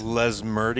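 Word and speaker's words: Lesmurdie: Les Murdy.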